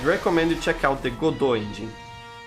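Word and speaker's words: Godot: you check out the godo engine it's spelled g-o-d-o-t or go dot there are people who who say it like that so that's what i'm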